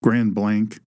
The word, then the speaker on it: Grand Blanc: also in um in Grand Blanc, Grand Blank, that's how they pronounce it, Michigan in the LDS church there.